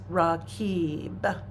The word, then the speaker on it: Raqib: So the practice is Raqib. It's spelled well, it transliterates R-A-Q-I-B, but the Qib is the emphasis.